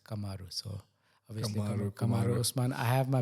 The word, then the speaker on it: Kamaru: umari is like no it's not kumaru pro it's kamaru so obviously I have